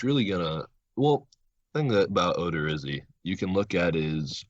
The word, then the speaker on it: Odorizzi: So the first one, game 1, is going to be Karnes versus, how do you pronounce that? Odorizzi.